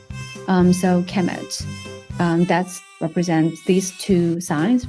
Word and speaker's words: Kemet: So it will be, the noun will be pronounced kemet.